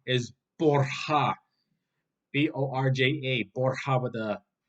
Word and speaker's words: Borja: So in Italian, it's Borgia, but in Spanish, it's Borja with a silent J.